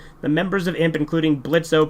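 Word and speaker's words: Blitzø: members of imp including blitzo pronounced Blitz the boss of the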